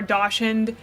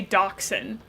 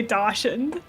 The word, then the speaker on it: dachshund: Um, I will never say dachshund. It's just not It's not correct. It's spelled dashed and I will always say dashed.